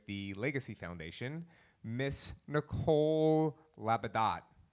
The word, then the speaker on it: Labadot: Legacy Foundation, Miss Nicole Labadot. Labadot? It used to be Labadot, but there's a lot of dumb people that live in Louisiana, so we have to pronounce it Labadot, right?